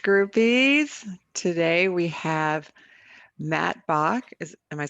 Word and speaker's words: Bach: different ways probably but i always tell people it's like the composer right bach yeah right that's what